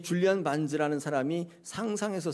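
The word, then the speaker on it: Barnes: 줄리안 반스가 아니라 반즈. 예, 발음을 좀 잘하셔야 되는데 줄리안 반즈.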